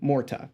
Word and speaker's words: Mohrta: I was asking is, how do you pronounce the name? Mohrta. So I was kind of close or saying it right sometimes.